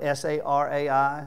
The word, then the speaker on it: Sarai: I'm going to pronounce them all Sarah, okay? Instead of Sarai, I'm just going to go with Sarah.